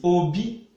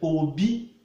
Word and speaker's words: obi: Then male as well, Obi. But heart means, as in is being pronounced Obi with low tone.